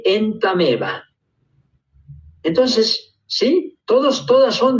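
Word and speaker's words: Entamoeba: Se escribe entameva, pero se lee entameva.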